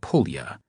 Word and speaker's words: pulya: The second half of the word pt seemed to have a connection to pulia, pronounced with a long u as in pool, which was the Russian word for bullet.